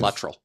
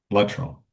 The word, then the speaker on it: Luttrell: I've heard it pronounced a couple different ways. It's Luttrell. Luttrell.